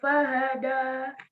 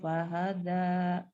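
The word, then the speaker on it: فهدى: Danya jangan da, tapi lembut ya.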